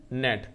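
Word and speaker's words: gnat: जैसे कि यहाँ पर एक आपको नेट दे रखा है, GNET नेट। इसी तरीके से G जिसमें साइलेंट हो G जिसमें साइलेंट हो, ऐसे दो वर्ड कौन से हो सकते हैं।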